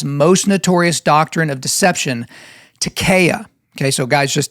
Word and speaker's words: taqiyya: notorious doctrine of deception, taqiyya. Okay, so guys, just Takiya, you may have heard people pronounce it Takiya, but it's Takiya, Taqiyya, and it's this.